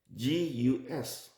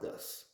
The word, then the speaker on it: Gus: Gus. Well, if you are English speaker, you will pronounce it as Gus, but it is not Gus. It's Gus.